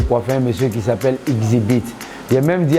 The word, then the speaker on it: Xzibit: Bon voilà, c'est comme ça, j'étais posé chez moi un dimanche, j'ai eu la chance de coiffer un Américain qu'on appelle Exhibit. Aujourd'hui, il prononce bien son nom parce qu'on m'a parlé un peu de lui.